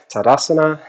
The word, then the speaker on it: Tadasana: Exhale, hands to either side, Tadasana, or Tadasana, the only way to pronounce that.